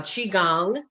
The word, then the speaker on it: qigong: something called qigong and it's spelled q-i-g-o-n-g so uh chi gong you have tai chi